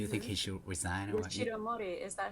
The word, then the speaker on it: Yoshiro Mori: Yoshiro Mori, is that how you say his name? Oh yeah, you're right. Yoshiro Mori, yeah.